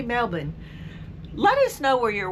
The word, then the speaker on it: Melbourne: Looks like Melbourne, but I think they say Melbourne.